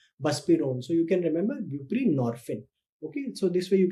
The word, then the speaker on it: buprenorphine: Another drug which can be used is buprenorphine. So now you can remember from the name itself, buprenorphine, you can remember it with it rhymes with morphine.